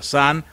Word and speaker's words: Sun: bien en japón la pronunciación de song se pronuncia sanz en japonés lo cual es la misma palabra